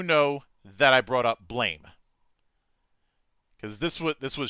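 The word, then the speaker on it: BLAME!: this was shortly after blame was made into a anime movie on Netflix and I had to keep correcting you and it's called blam yeah it's spelled blame it's pronounced blam just still still going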